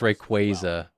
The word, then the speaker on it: Rayquaza: Yeah, it's pronounced Rayquaza.